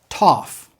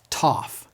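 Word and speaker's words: Tau: say it with me Sigma s Sigma s Toof it sounds just like our T TT tof notice how I'm pronouncing the name of the letter its name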